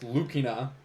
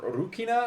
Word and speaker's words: Lucina: one of them's Lucina it's pronounced lukina or urukina I think technically because R and L are kind of interchangeable as well but that is one